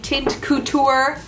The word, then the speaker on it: Teint Couture: hey guys that's my little roundup of Jumanji tint couture I actually said it right this time the